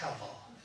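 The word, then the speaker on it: הבל: If you want to say it like a Hebrew, you'd have to do the Hevel. It's not just Hevel, it's Hevel. All is Hevel.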